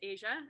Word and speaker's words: Aja: how old i am now and my name's pronounced asia and then the last name i inherited when